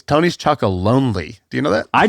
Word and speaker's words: Tony's Chocolonely: By the way, I've been saying it wrong for a long time. It's not Tony's Chocolone. It's Tony's Chocolonely.